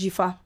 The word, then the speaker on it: Djifa: And she spells her name with a J. So DJIFA. Okay. She said it on the podcast. Hi guys, my name is Jifa.